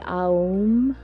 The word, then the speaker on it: Om: to that's the holy ohm when it's pronounced on its own it's usually um and just taking in